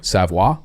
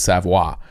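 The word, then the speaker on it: Savoie: absolute how do you spell it s-a-f-r-o-y savoir yeah it's French so s-a-v-o-i-e damn I was hoping it was like Patrick it's the same French sound you want to it's like Savoy yeah it reads Savoy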